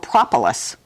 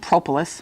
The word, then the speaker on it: propolis: bees make something called propolis some people pronounce it propolis but propolis same thing it's resin from trees